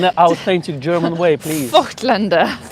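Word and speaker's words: Voigtländer: Voigtlander. Voigtlander. It's not Voigt. There's no I. No, it's a Voigtlander. It's Voigt. Exactly. It's Voigtlander. Exactly.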